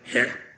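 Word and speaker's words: חית: Okay, so that's got to be really throaty. It's got to be het.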